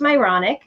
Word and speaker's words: Myrony: So my last name is literally pronounced Myronic. So everyone has these Myronic experiences, just not the way I spell it.